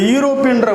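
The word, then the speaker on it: European: பட் இந்த யூரோப்பியன்ற word இருக்குது இல்லையா, இந்த வேர்டு வந்து எப்படி ப்ரொனவுன்ஸ் பண்ணணும் அப்படின்னு கேட்டிங்கன்னா யூரோப்பியன், யூ அந்த யூக்கு வந்து என்ன கிடையாது, வவல் சவுண்டு கிடையாது.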